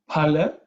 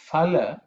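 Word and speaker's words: फल: There are some who pronounce it as phala with an F sound, but the real Sanskrit pronunciation is pa. Okay, pa with an extra air. Okay, because it's the second letter in the pa varga.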